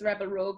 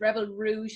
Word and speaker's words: Rebel Rouge: Yeah, because I used to always pronounce this as Rebel Rogue, but it's Rebel Rouge Labs.